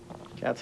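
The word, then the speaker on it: qats: does play the cats I believe is pronounced q a TS cats is a is a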